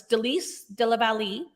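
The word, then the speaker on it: Délice de la Vallée: Why didn't you pronounce it properly? I think you did quite well myself. It's Delice de la Vallée, and you were quite close.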